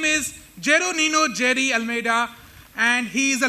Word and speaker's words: Jeroninio: He tried pronouncing my name, well attempted, and he said Jeronino. It is not Jeronino, it is Jeroninio, but don't try to